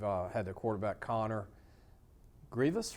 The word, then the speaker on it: Greavis: the house we've uh had the quarterback Connor Grievous right I finally said it right man people